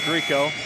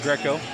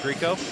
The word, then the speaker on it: Greco: me a text that it's Owen Greco. I was calling it Greco. I apologize. It looks like Greco, but it is Greco.